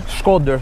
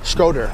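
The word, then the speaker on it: Shkodër: Skodër. Skodër. Because really Albanians like try to pronounce Shqipëri.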